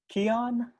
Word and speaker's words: Keon: to move next to i hope i pronounced this right keon yeah that's perfect my name is keon i'm currently a